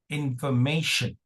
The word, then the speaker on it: information: T is pronounced as sh. And not TI exactly, but T. Okay. And then we have schwa, information, information, information.